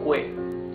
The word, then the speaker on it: que: You can see that the U is muted. You don't read this que. You read this que. So this is que and this is quién. The U has no sound.